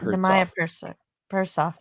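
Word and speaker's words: Nehemiah Persoff: Nemaya Persoff. He plays both. His name Nemaya is Nemaya Persoff, and he manages. Write that down phonetically.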